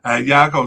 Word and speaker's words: Yago: uh trying to figure it out from the pronunciation it's a little difficult. Hago started 10 of their 18 games from the uh over the course of this period.